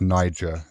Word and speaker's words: Niger: So I know you guys probably thinking uh that word is pronounced that word is pronounced Niger.